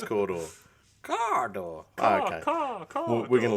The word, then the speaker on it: Cawdor: So there's the ancient pronunciation derived from ancient Terran birds, and it's Caw-Door.